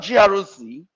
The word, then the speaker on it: GRC: I want to believe the word Groc uh let's call it a word or an acronym. It's actually an acronym but the way we pronounce it now sounds more like a word.